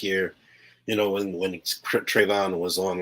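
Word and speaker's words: Trevon: i'm sorry i'm sure i just said his name wrong tavonne diggs right trayvon trayvon okay i knew i was missing something okay nobody gave a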